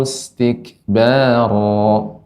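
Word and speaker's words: اسْتِكْبَارًا: Wastaghshaw thiyabahum wa asarru wastakbaru istikbara. Kaf ketika sukun, tik tik ya, tak. Nah, demikian. Silakan, Nek, ulang kembali. Wastaghshaw siyabahum wa asarru wastakbaru istikbaro. Nah, begitu, Nek, pengucapannya. Wastakbaru istikbaro.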